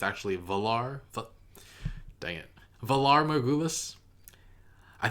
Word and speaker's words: Valar Morghulis: So I was slightly wrong about how to pronounce Valar Morghulis. I think I said Valar Morghulis, but it's actually Valar.